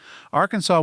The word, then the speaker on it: Arkansas: of the south wind the French not fond of hard consonants at the ends of words kept the S silent Arkansas was originally part of